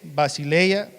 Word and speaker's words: basileia: Dominio en griego es basileia, que significa reino, dominio y reglamento.